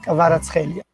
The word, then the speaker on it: Kvaratskhelia: Vicia Kvaratskhelia.